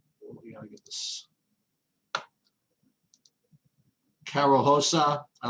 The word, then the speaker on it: Rosa: I like, well, it's spelled Rosa, but it's pronounced Hosa, I believe. Carol, we gotta get this. Carol Hosa, I like her at 8,700.